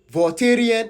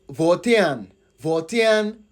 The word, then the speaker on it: Volta: It is the best thing to know that Varian is the wrong pronunciation or the wrong demon name for people from VA region. So the only way we can let Van Van come out. You see the last time I was pronouncing the Van I was pronouncing it very fast and I was like Ven please it is Van Van like Ghanaian.